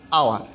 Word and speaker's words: hour: দ্বিতীয় যে ওয়ার্ডটি আছে আওয়ার, HOUR, আওয়ার, এই উচ্চারণের ক্ষেত্রে ভাওয়েলের উচ্চারণ হয়েছে, এখানে এইচের উচ্চারণ হয় নাই, এই জন্য এখানে বসছে এন।